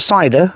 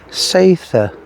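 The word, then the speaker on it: Seiðr: Not cider, as most people pronounce it. Not cider. Seitha.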